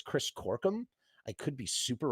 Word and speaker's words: Corkum: In any case, Chris, did I say your last name wrong? Yeah. No. You sounded right. Great. Corkum.